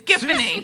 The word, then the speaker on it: Giffany: Or maybe it's pronounced Giffany. I'm never really sure. It's Giffany.